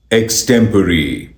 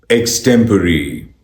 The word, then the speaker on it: extempore: इस वर्ड की सही प्रोनाउंसिएशन है एक्सटेम्परी, एक्सटेम्परी, एक्सटेम्परी, एक्सटेम्परी, एक्सटेम्परी, एक्सटेम्परी, extempore, extempore, extempore.